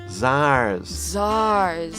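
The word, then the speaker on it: tsar: cents an Akita Vishal czars right so it's spelled with a TS it's one of the only words in English with a TS I think ok what the pronunciation is like a Z oh right I'm sorry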